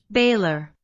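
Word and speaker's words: Bálor: So it was me Baylor. It's Baylor. So I was saying it a bit wrong cuz I said, but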